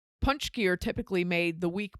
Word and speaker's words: Pączki: This week on the podcast, we made Pączki, which is spelled nothing like it's pronounced. And Pączki is Polish donuts.